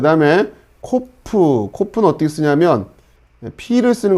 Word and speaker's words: ק: 자, 발음은 치, 이런 발음이 날 겁니다. 자, 그 다음에 코프.